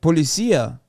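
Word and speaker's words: policía: Turkish too I forgot we're putting the emphasis on the wrong letter for policia is on the last all right what Policia I'm saying right Policia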